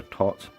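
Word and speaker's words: Thoth: Equinox is a tot deck, and I believe that's the correct pronunciation for tot.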